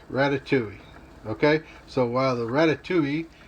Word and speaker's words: ratatouille: with my wife about my pronunciation of rat tat tui or rat tui or ratatouille look it up use the disney pronunciation as uh the expert way of pronouncing a french word and that's the end of that controversy ratatouille okay so while the